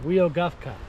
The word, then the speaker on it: Weogufka: Jayden, how do you say this? Weogufka. Weogufka. Yeah, I was saying it way wrong.